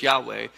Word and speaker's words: Yahweh: and so it was indicated by the letters yad hey Bob hey why wh-wh Yahweh sometimes how we say it but they wouldn't pronounce it they would every time they saw that written they would say Adonai which means Lord and when the